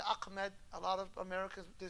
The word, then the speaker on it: Ahmed: at westerners for example because Americans we don't have we don't have hat in English so they struggle they don't know how to pronounce uh Ahmed they say Ahmed a lot of Americans